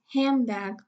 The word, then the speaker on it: handbag: Here we have ne, de, and be. Okay, because we have a three consonant cluster, that the middle de has been elided.